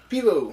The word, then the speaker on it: pivo: it's the paivo pills pivo pivo i always say people i thought well i mean phonetically it would be fibo but there's nothing uh